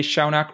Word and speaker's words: Shaunak: game podcast and we have with us today Shaak Roy Shaak did I get your name right and are